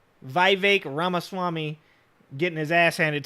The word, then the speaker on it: Vivek: redox boy right here Vivek it rhymes with cake Vivek ramaswamy getting his ass